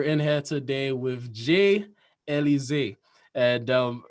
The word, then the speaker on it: Elizeé: Yeah, Elizeé. That's kind of like there's a drink. I think it's Alizé. Alize. Yeah, it's similar pronunciation Yeah, anybody ever tell you something about that?